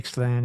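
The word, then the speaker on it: Ixtlan: You know, the one I mentioned that was my favorite, The Journey to Ixalan, it was because, am I pronouncing that properly?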